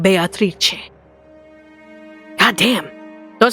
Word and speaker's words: Beatrice: of me my lady I always thought her name was pronounced as Beatrice it mku because the spoilers it is Beatrice not only is it